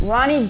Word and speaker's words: Roony: Uh, Ronnie.